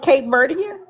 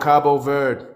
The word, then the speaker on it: Cabo Verde: Are you talking about Cape Verdier? He said, that's the people. The place is called Cabo Verde.